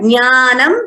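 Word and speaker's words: jñānam: So this word jnanam, we should pronounce it accurately like we learned when we learned the Vyanjanas. It is jna.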